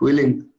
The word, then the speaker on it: willing: Willing.